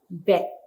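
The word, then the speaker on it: בּ: Nah, apabila tidak ada titik di tengah ya, kita mengucapkannya dengan fet ya. Memang ini adalah aksara bet, tetapi yang dengan titik dagesh di tengah itu kita membacanya dengan b ya, bet. Nah, yang tidak ada titik dagesh dibaca f.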